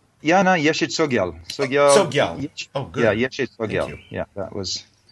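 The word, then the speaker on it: Yeshe Tsogyal: Do you know the pronunciation of that? Am I getting it right? Yeah, no, Yeshi Tsogyal.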